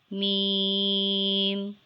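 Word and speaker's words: ميم: letter name is mem mem is dotless mem is a light and nasle and long sound letter it is pronounced by joining the dry parts of both lips you can read after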